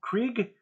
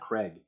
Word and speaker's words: Krieg: I think I've always pronounced it wrong. Krieg, or not Craig, Krieg.